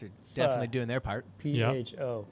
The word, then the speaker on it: pho: PHO, pronounced pho.